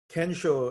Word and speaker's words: kensho: in the Zen tradition they call it ginseng and kensho in japanese pronunciation can show is that brief enlightenment